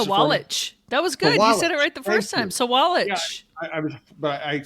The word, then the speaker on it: Sawalich: Will you pronounce it for me? Sawalich.